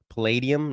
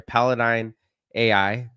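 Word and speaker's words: Palladyne AI: Palladium. No, it's not Palladium. Pidium. Paladine. My bad. Paladine IIA or AI. Sorry. Paladine AI.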